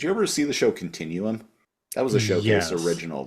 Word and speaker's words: continuum: Continuum, spelt with 2 U's, pronounced continuum.